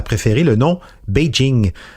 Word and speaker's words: Beijing: Parce que Beijing, en soi, c'est une manière très occidentale de prononcer les pictogrammes associés à ce qui signifie en chinois « capitale du Nord ».